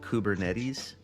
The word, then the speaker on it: Kubernetes: I believe it's called Kubernetes. That's how it's pronounced.